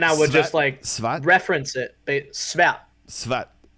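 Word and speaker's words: sværd: Svat. Svat. It's dumb. There's a silent letter in there. It's SVARD. Svat.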